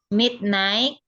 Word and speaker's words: midnight: night, at midnight, at Midnight. Jadi GH-nya nggak dibaca.